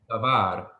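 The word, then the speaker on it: דָּבָר: The word davar has 2 syllables. The first syllable, da, is an open syllable ending with a vowel. The second syllable, var, is a closed syllable ending with a consonant. So da, var.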